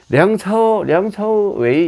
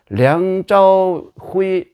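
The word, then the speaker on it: 梁朝偉: 량차오웨이, 이것은 홍콩 발음이고, 중국 정식 발음으로 하면, 표준말로 하면 량짜오후이 이렇게 돼요. 좀 다르죠.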